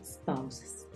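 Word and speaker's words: spouses: escriben los esposos entonces Recuerda que se pronuncia spaas y significa esposos cuando quieres hablar de los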